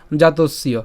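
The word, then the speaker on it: জাতস্য: খেয়াল করুন প্রথম থেকেই আমরা বলেছিলাম যে জাতসীয় এটা একসাথে উচ্চারণ করব ভাঙ্গার সুবিধার জন্য এটাকে ভেঙে দিয়েছি জাতসীয় বাট একসাথে উচ্চারণ করলে উচ্চারণ কেমন হবে জাতসীয় ঠিক আছে এরপর হি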